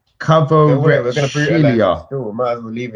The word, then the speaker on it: Kvaratskhelia: Kvaratskhelia. Still, might as well leave it. Kvaratskhelia.